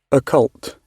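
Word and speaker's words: occult: a bit of like ult is that how you pronounce it Ault yep like that this involving a relating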